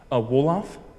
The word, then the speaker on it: Wolof: Wolof, it's spelled W-O-L-O-F.